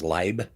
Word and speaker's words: lib: the only one that pronounces lib as leib since it is a library that is correct you